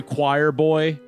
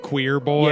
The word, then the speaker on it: QUIRBOI: It's spelled like with a Q, QUIRBOI. like queer boy. Yeah, queer boy. But it's choir boy.